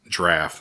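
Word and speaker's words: draught: your nets for a draft it looks like drought but it's pronounced draft and I just looked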